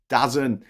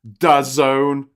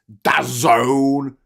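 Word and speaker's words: DAZN: Spotify times water uh saax got it spax dazen no it's it's pronounced this it's pronounced dazone yeah yeah uh I've never heard of it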